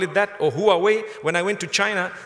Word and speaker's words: Huawei: if you want to call it that or Huawei when I went to China they told me it's pronounced half way I said okay no problem it's a quat